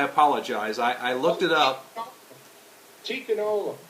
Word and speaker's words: Tikkun Olam: This is the next to the last, and if I mispronounce this, I apologize. I looked it up. Tikkun Olam. Tikkun Olam, yes.